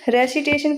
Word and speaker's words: receipt: Recitation की spelling क्या होती है? RECITATION, recitation. रेसिटेशन मतलब होता है सस्वर पाठ करना। और नेक्स्ट वर्ड है रिसीट। रिसीट में पी साइलेंट होता है, तो इसकी स्पेलिंग सही है RECEIPT।